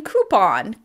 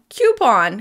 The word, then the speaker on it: coupon: I mean, coupon. Coupon, coupon. As it turns out, the correct pronunciation is probably coupon because it comes from French.